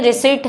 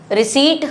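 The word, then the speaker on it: receipt: रिसीप्ट दो हमें और रिसीप्ट पी साइलेंट होता है इसमें रिसीप्ट हम इसको बोलते हैं। ठीक है? प्रोनंसिएशन भी प्रॉपर होना चाहिए। ठीक? रिसीप्ट इज़ the right answer. रिसीप्ट हम इसको बोलेंगे।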